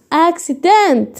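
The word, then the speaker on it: accident: يبقى اما اجي انطق هقول عشان الكاف. سيبت. اكسبت. فهمتوا بقى الدنيا؟ اكسيدنت، حادث. بقول لك حد عمل حادثه، اكسيدنت.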